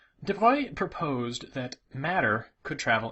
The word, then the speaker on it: de Broglie: with louis de bruy i always thought his name was pronounced de broglie but it's well he's french so there's all sorts of weird pronunciations in french is my best guess at how it would probably be pronounced devoi proposed that matter could